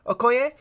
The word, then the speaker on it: Okoye: talking with like I don't know how to pronounce her name but they'll call it in chick okay yeah okay um corny Okoye okay that sounds right okay hey um freakin